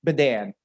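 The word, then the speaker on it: Badin: you spell bedan b-a-d-i-n it's spelled like bad in b-a-d-i-n but it's pronounced bedan i had to learn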